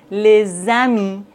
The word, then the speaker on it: les amis: Par exemple, les amis, des enfants. Vous voyez, dans la liaison, le S se prononce Z.